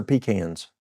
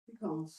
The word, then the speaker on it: pecans: Pecans. How do you say them? Pecans or pecans? Pecans. Pecans. Okay. down in some areas they call it pecans.